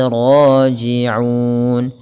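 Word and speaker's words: راجعون: Ra-nya tebal dengan dia sifat tafkhimnya. Raji'un.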